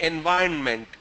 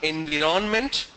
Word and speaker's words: environment: Then you gave me environment. It's not environment, it's environment. Environment.